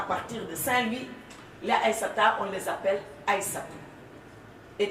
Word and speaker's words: Aïssata: Kennedy, les gens écrivaient Aïssatou naturellement parce que c'est ça qu'ils savent et qu'ils entendent prononcer. Et mon père me dit non, tu es Aïssata. Tu n'es pas Aïssatou.